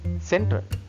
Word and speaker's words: central: Can you remember we learned letter E sound as A sound, so say A sound.